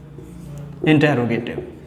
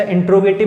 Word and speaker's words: interrogative: उसके बाद बात करते हैं सेकंड टाइप की, and second type is इंटेरोगेटिव। इंटेरोगेटिव। अभी इंटेरोगेटिव क्या है? अच्छा, इंट्रोगेटिव भी प्रोनाउंस कर लेते हैं बहुत से लोग, लेकिन एक्चुअल प्रोनाउंसिएशन क्या होगा? इंटेरोगेटिव।